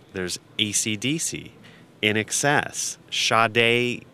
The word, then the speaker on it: Sade: a cdc in excess shaday is kind of pronounced Sade really if you were like looking at it that way so we help the